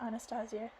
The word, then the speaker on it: Anastasia: Anastasia said waking me I'm gonna call her Anastasia because that's the actual pronunciation the Russian pronunciation of the English I